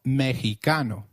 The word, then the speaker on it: Mexicano: as X in flexible it is pronounced as a throaty h in the words Mexico Mexicano and Oaxaca which is a state in Mexico so can you try saying Mexicano it is called Mexicano the other thing that